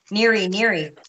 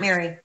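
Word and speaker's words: Nery: Neary, not Mary.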